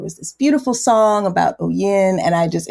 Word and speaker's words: oyin: And so there was this beautiful song about o yin. And I just it's always been my favorite word ever since then, ever since I was a little girl. Um, it's actually pronounced oiing and I'm do not pronounce it correctly.